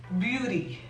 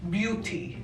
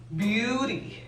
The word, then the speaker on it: beauty: Y la última palabra que tenemos aquí significa belleza en español, y en inglés se pronuncia beauty. No es beauty, es beauty.